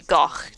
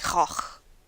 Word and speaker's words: Van Gogh: So, in Britain we say Goch, typically, but I know it's more like Goch.